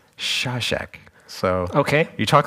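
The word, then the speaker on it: Šašek: is Mira slav sassek I was corrected about how to say this from someone on the internet they said they said it's shawshack so okay you talk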